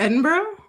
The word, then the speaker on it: Edinburgh: to Edinburgh? No, but that's so often mispronounced by Americans.